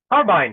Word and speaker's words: Carbine: of Product Marketing at Carbin. Is that how it's pronounced? Carbine. Hey, Dan. Really good to see you. And yes, the company is called Carbine.